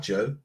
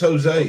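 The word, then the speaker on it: José: I'm feeling left out, Joe. It's not Joe, it's Jose.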